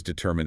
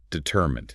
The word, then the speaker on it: determined: It has 3 clear syllables, which must be distinct. Determined.